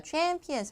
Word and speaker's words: champions: 자, champions 할 때 이 단어 대해서는 자, 이름절 강세요. Olympic champions.